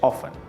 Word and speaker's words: often: normalmente ofan a menudo ofan se escribe often pero la pronunciación la pronunciación es off de acuerdo o ft ojo